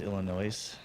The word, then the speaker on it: Illinois: people we love Wisconson I believe it's pronounced Illinois Illinois I put the ass on the end of everything I know right that's